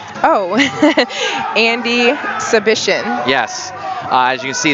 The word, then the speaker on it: Przybycien: Oh, Andie Przybycien.